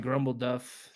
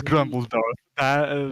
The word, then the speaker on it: Grumbledorf: I feel like Grumbleduff. I'm definitely saying his name wrong, but it is Grumbledorf. That's way easier to pronounce.